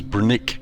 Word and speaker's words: Brnik: international airport in slovenia previously known as brunic airport that's spelled brnik it's the largest airport in